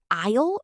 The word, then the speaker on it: I'll: When we say phrases like, I'll have the word I'll shouldn't sound like 2 syllables. It sounds almost exactly like the word all.